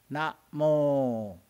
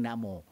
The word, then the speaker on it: Namo: Can you just know you are chanting Namo. No clearly, no rhythm. Na is short pronunciation. Mo is long.